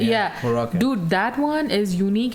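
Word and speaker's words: Huracán: I think it's Huracan. Yeah. Huracan.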